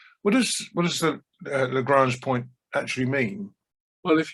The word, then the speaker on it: Lagrange: you mentioned the lagrange point is that you pronounce it lagrange yeah i i mean it is it's a